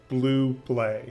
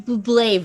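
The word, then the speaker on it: Bublé: blue blaze version okay that's the second time you've said blue play i i know i can't say his name right please say just let me hear you say buble the michael buble version is one of the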